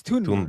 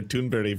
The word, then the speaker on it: Thunberg: So, because there's th right but it's Tunberg. Tunberg. Yeah. Okay. Okay. Yeah. Amy Goodman has been calling her Tunbury for so long.